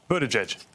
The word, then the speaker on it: Buttigieg: Just pronounce it for everybody so they can hear you say it. Buttigieg.